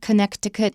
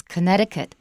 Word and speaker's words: Connecticut: Watch out, it's not Connecticut, it's Connecticut.